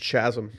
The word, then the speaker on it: chasm: a little um chasm if you will it's pronounced chasm a little chasm if you will and so he he knew